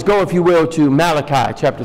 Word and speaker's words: Malachi: Go, if you will, to Malachi chapter 3. Malachi. Or the correct pronunciation, Malachi.